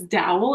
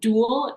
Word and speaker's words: Dowel: my name is dowel it's not duel it's Dow I'm sorry I'm gonna get